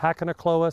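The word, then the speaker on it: Hakonechloa: about what that is look up hakone cloa which is h-a-k-o-n-e-c-h-l-o-a hakka or hakana kloa some people pronounce it that way but there's lots of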